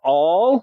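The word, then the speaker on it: Aull: established three years earlier john all and that name is spelled a-u-l-l opened a mercantile and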